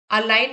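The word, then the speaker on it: align: अवसर मिले चांस मिला अलाइन में जी साइलेंट है अलाइन का मतलब हो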